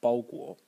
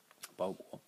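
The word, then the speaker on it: 包裹: And you can find it in the common expression today, package or parcel, pronounced bao guo, bao guo.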